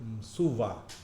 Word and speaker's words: msua: "msu" означает "крыло" — они произносят его как "msuva", добавляя вставное "va".